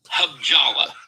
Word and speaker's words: Halabja: Yeah, I want your audience to write down Habjala. Habjalla. Habjalla. Spell it again.